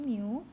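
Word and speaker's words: μ: Oke, ini bacanya mu ya. Saya tuliskan di slide, ini bacanya mu. Bukan tau, apalagi ada yang nyebutnya tau, itu salah ya. Yang benar itu adalah mu.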